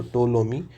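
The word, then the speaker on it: Ptolemy: जिसको हम बोलते हैं टोलोमी। पी इसमें साइलेंट होता है। सो टोलोमी।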